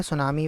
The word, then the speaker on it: tsunami: याद रखनी है कि ये जो टी दिया हुआ है सुनामी वेव के अंदर हम क्या प्रोनाउंस कर रहे हैं? हम प्रोनाउंस कर रहे हैं सुनामी। मतलब टी को हमने कंसीडर नहीं किया। इट्स मीन टी जो है वो साइलेंट है इस वर्ड के अंदर।